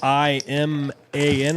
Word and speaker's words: Iman: And that is Iman taking another pot down. It's spelled I M A N I believe, but it's pronounced like Iman cuz I asked him, but it's I M.